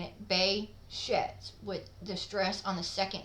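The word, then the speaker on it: Behçet's: is pronounced exactly the way I'm saying it Bay sheds with distress on the second syllable um but it's also worth noting that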